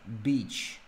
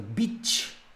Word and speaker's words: beach: Beach. С произношением тут, конечно, вопрос. Потому что beach – это сука.